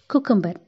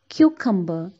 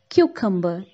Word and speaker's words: cucumber: pack up or a burden and party now koo kumba he put in an action on the school